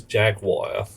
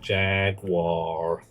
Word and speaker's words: Jaguar: If somebody says Jaguar or the American Jaguar. No. No. It has three syllables.